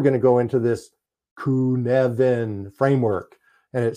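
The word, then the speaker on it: Cynefin: an English standpoint or standpoint we call it cinen right c y NE f i n copen but it's actually pronounced kunan and by the way I've heard more people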